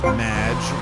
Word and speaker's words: Madge: the show thanks amy however you have mispronounced my name it's madge which rhymes with badge uh as in duh